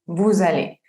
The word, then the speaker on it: vous allez: Tenemos nous allons y vous allez. Si se dan cuenta, el resto comienza la segunda palabra con V, no empieza ni con vocal ni con H muda, entonces pues no podemos hacer la liaison.